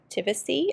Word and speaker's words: Tivisiy: In this video, I'm going to do an unboxing and review of Tivisiy, I believe is how you say it, T-I-V-I-S-I-Y.